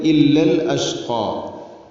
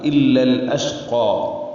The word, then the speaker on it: إلا الأشقى: അതുപോലെ ഇല്ലൽ അഷ്ഖാ, ഇല്ലൽ അഷ്ഖാ എന്ന് പറയുമ്പോൾ പ്രധാനമായിട്ടും ശ്രദ്ധിക്കേണ്ടത് ഇല്ലൽ അഷ്ഖാ, ലഷ്ഖ ആവുന്നതാണ്. ലാമിനെ കൊണ്ടല്ല പറയേണ്ടത്, ഹംസയുടെ ഉച്ചാരണം. ആ ഒരു ശബ്ദം നഷ്ടപ്പെടാൻ പാടില്ല. ഇല്ലൽ അഷ്ഖാ അങ്ങനെ തന്നെ പറയണം.